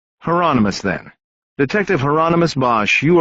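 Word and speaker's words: Hieronymus: Is that heronomous? Bosch said rhymes with anonymous. Heronomous.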